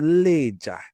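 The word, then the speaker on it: Lejja: This oldest iron smelting site in the world is located in a place called Leger in Onsoka. Leger is spelled L E J A Leah.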